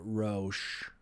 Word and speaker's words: Rauch: how you pronounce it it's it's americanized of a german name so oh gotcha they dropped the ch and they just went with rau kind of pronunciation yeah i think in